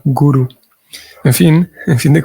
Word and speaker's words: guru: se utiliza más como con el cambio en el acento un gurú como con un acento en la última vocal guru Aunque pare ser que de la pronunciación sánscrita es más bien un con una acentuación en la primera vocal guru en fin en fin